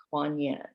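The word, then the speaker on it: Quan Yin: It's spelled Q-U-A-N, separate word, Y-I-N, Kuan Yin.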